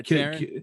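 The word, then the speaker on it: Taran: Is that how you pronounce his name? Yeah, Taron.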